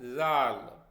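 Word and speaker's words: جیم: हैं पहला अल्फाबेट है जीम जब आप जीम का उच्चारण करते हैं तो हमारी जीभ नीचे की तरफ आ जाती है इससे शब्द बनता है जबरन दूसरा है जाल जब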